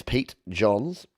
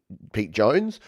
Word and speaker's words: Pete Johns: When your name is Pete Johns, yeah, there's no other way to pronounce it. Unless people call me Pete Jones or just John, which does happen quite a lot.